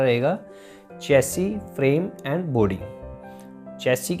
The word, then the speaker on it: chassis: CSC Prem and body Chelsea के spelling ही अच्छे glass IS होते हैं बट इसको बोलते सैस नहीं बोलते कुछ ऐसी बोलते हैं और चेल्सी होती क्या